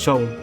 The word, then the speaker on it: Seam: Mon nom est Seam. Ça se prononce Shaun. Prononcez Shaun.